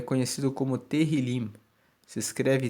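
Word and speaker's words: Tehilim: original no texto massorético ele é conhecido como terril se escreve t e h i l i m e teril significa louvores o livro de Salmos não foi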